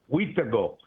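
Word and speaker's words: wîhtikow: Wheatago is how you say it.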